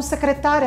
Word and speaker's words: secretária: É o caso, por exemplo, de secretária e secretaria. Então, secretária é a pessoa, secretaria é o lugar. Ou sabia e sabiá, sabiá o animal, sabia de saber alguma coisa. Então, as palavras são escritas da mesma forma, mas são pronunciadas de maneira diferente.